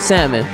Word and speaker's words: salmon: a human catching a salmon huh somebody said did you really just pronounce the L my fault salmon salmon I don't know